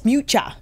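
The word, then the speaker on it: Miuccia: And was saying, Miucha, what is her, how do you pronounce her first name? Yes, Miucha, Miucha Prada, is super economical.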